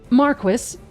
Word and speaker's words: Marquis: Marquis, yes, they really pronounce it like that in the game.